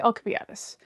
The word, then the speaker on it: Alcibiades: I know they pronounce his name differently in other stuff, but I say Alcibiades.